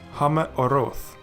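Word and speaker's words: הַמְּאֹרֹת: And then it's very similar to if you have two Shewas in a row, with the first one silent and the second one vocal. So let's zip it back together, and we see that it is pronounced as Hame Oroth, which means the lights.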